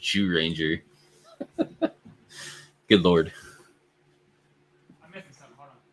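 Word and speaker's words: Zyuranger: It's pronounced Jew Ranger.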